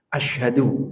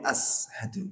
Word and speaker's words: asyhadu: Asyhadu, yang benar asyhadu, jangan sampai ashadu. Jadi bukan di depan, bukan as di depan lidah, tapi di tengah lidah. Asyhadu.